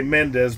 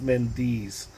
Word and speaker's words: Mendes: People say Mendes, but it's actually pronounced Mendes.